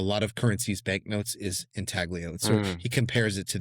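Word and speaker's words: intaglio: He calls it an inaglio or maybe it's inalio if it's being pronounced like Italian pronunciation which is like an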